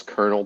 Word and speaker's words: colonel: why this colonel was Colonel pronounced that way and there's no R in the word at all it's hiding if they are is hiding it's like a silent barb well no it's actually a silent L but an unsilent are but it's not there